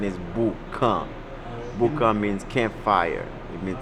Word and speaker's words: Boukan: the name a lot of people call it booking you know but the real pronunciation is Boo come Buca means campfire it means the fire pit